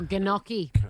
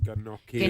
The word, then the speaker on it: gnocchi: Oh, gnocchi. Gnocchi. Gnocchi. She's reading it phonetically.